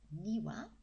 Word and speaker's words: 庭: the Ki for garden there it is it's pronounced niwa here's the Kani here and let's see if